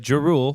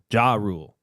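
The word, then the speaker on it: Ja Rule: names right you didn't you said jeru how do you say it J Rule J Rule I said jeru J Rule oh J Rule she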